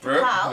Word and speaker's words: Takao: Yes, we pronounced it right? Right, Takao.